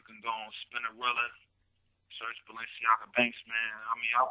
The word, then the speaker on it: Balenciaga: You can go on Spinnerella, search Balenciaga Banks, man.